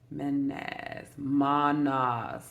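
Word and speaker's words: Mannaz: I think I said that right. Manas. That's how you say it.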